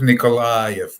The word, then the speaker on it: Nikolayev: here on pirate tv um i i'm philip nicolai by the way nicole gotcha i need to work on my pronunciations and i don't blame you in fact